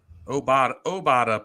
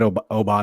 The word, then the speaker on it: Obada: Obada plays defensive end. I butchered that He's a defensive tackle. My apologies. Yeah, I said Obata.